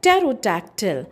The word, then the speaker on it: pterodactyl: Next we have is terodotactyl spelled as P T E R O D